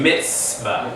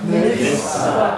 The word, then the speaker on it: mitzvah: This TZ sound is like a TS. Everybody say mitzvah. Mitzvah. You hear the T, S sound in mitz. Like, you know, you wear a pair of mitts.